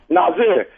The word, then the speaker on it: Nasir: Nazir.